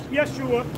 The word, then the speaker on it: Yeshua: Yeshua. They're right. But they're not pronouncing it the right way. Right. So when the church says Jesus, that's not his name.